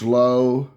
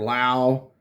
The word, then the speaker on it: Lowe: Penny sleeves uh Josh Lowe or Lau like when I was in college I had a professor with the exact same last name and he pronounced it loud but I've heard people pronounce it low so I guess it depends on how fancy you want to be Spencer Torkelson I think